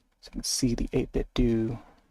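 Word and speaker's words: 8BitDo: I gotta tilt up this way so you can see the 8-bit do. It's pronounced 8-bit do, and not 8-bit do, as you would initially think.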